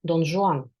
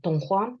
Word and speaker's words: Don Juan: En caso de Don Juan, en ruso su nombre se pronuncia a la manera francesa, Don Juan, en vez de Don Juan, que sería la transcripción más cercana al español.